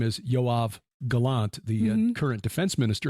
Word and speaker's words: Yoav: patriarch but it's uh the same name as yav Galant the current defense minister of Israel that's the name yav j OAB B yav is how you pronounce it yav spells his phonetically y o a v yeah